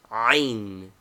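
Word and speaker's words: ع: Name, Ain. Equivalent, A with a rough breathing, etc. Pronunciation, a guttural sound only heard in Arabic. It must be learned from a native.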